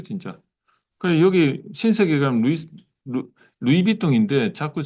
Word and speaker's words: 루이비통: 그래, 여기 신세계 가면 루이비통인데 자꾸 저는 루이스 비에통 이러니까 와이프가 뭐 발음 잘해라고 맨날 그러는데, 어, 그러니까 그 내비게이션 해라는데 네이비게이션 뭐 이러니까 왜 자꾸 끝까지 다 읽냐 뭐 이거 자꾸 와이프가 저한테 그러는데 루이스 비에통, 루이비통.